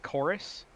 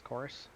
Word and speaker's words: Chorus: next game here is a game called chorus that's how you say it CH o or us course yep and literally looks